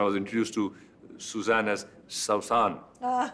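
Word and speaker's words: سوسن: introduced to suzanne as saussan ah he said that that's the actual pronunciation of the name which is the arabic franchise it's the name of a wildflower saussan but eventually all the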